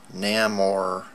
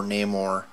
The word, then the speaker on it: Namor: series 2 Marvel Legends namore or neore however you like to pronounce it otherwise known as the